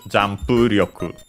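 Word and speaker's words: ジャンプ力: So, in our case, Jampu Ryoku. On the pu, and so Ryoku then is low.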